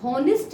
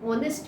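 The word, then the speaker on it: honest: लेकिन नहीं, हम हॉनेस्ट मैन नहीं बोलते, हम ऑनेस्ट मैन बोलते हैं। यहाँ पे एच क्या है, साइलेंट है, इसलिए हम एन का इस्तेमाल करते हैं।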